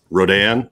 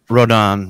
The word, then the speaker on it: Rodan: the kaiju master here so everybody correct my pronunciation rodin is that correct wrote on right um you want me to take the